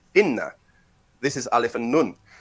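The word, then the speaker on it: إن: Nah, jadi itu bacanya inna.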